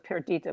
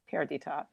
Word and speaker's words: Perdita: I thought it was Perdita, but it's Perdita.